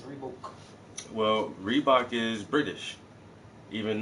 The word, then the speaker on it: Reebok: come out and say rebok isn't rebok rebok is rebook well Reebok is British